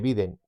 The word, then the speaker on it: Biden: que biden o biden yo prefiero llamarle biden y en mi vídeo siempre voy a llamarle biden porque hablo español no hablo otro idioma y En España se habla como se escribe excepto con la H que es sorda pues vien tiene el